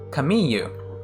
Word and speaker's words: Camille: japanese name is this kamiyu kamiyu with a y sound not with an if